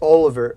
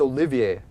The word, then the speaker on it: Olivier: now it's gone art Oliver Olivier that's it I think I said Oliver first because I'm horrible at pronouncing French it's Olivier so art Olivier if